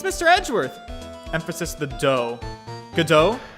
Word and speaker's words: Godot: sure that mr delight really is damask it's pronounced godo gotogodo okay got it did i say it